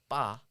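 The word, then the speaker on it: 八: reason why is that eight is uh pronounced as ba in Chinese and there is a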